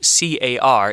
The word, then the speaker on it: car: them in different ways so in british english c-a-r is pronounced ca whereas in american english it would be car slightly different accents and